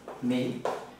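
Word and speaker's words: 明: Cái này bạn đọc là mính.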